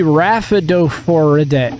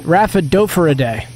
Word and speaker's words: Rhaphidophoridae: That'd be Rhaphidophoridae. Rhaphidophoridae. Perfect. Easy. No further pronunciations needed.